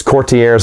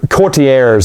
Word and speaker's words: Courtiers: this in my review we call those cortiers i try to mispronounce it as best i can a lot of times on purpose we will mispronounce things but uh you courtiers is probably the best